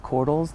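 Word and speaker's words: Korthals: My name is Cordles. That's spelled, and Cordles is K-O-R-T-H-A-L-S.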